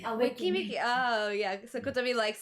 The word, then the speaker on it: Weki Meki: It's spelled Weki Meki. Wiki Miki.